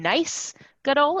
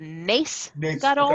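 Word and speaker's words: נס גדול: So I recorded it saying nice Gadol instead of nace Gadol.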